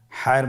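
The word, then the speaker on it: ح: হায়ের মধ্যে কোনো নোক্তা আমরা দেখতে পাচ্ছি না। হা হরফটি কীভাবে উচ্চারিত হবে? হা হরফটি উচ্চারিত হবে কণ্ঠনালীর মধ্যখান হতে। গলা চিপে ধরে আপনি উচ্চারণ করুন।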